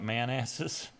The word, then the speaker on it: Manassas: Manassas? It's either Manassas or Manassas. That's what it looks like to me. For real. Well, why wouldn't I be able to pronounce that? We call it Manasses.